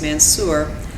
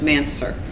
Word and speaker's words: Mansur: brother and I are aware that some people pronounce the man's her name as Mansour but today we will be using the pronunciation of mansur which is how our grandmother pronounced the name